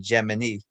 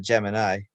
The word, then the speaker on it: Gemini: Times, which confirms that NASA officially calls the program Gemini instead of Gemini, even though I think in the Webster's dictionary, the pronunciation for Gemini is Gemini.